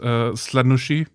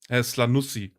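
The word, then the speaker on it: Slaanesh: Did Fulgrim also show you his Slanushi? Slanusi. Sorry, I mispronounced that.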